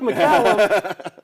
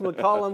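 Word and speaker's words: McCallum: Looks like Macllum, but it's pronounced McCollum.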